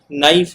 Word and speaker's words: knife: बोलते हम नाइफ है बट के लिखा जाता है।